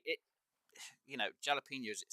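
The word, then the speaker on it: jalapeños: but for me it's jalapenos because the J is not silent and I have an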